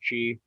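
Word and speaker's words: Kyi: is that right the the last word there is chi um but yeah you're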